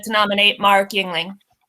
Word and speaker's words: Yingling: I'd like to nominate Mark Yingling. Or Youngling, as he says it, but that's wrong. Yeah, he doesn't pronounce it right.